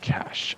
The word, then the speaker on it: cache: Oh, for the cache, the E is not pronounced, so it's pronounced cache.